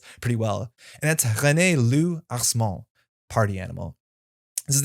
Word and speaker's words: Loup: But this should be pronounced Loup, as in Lou, like L-O-U in English. And that's because this is a French word, just like his name implies.